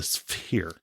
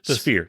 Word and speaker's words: Sphere: you think it means I don't think that's how you pronounce it it's spear spere sphere it's the sphere fear yeah so what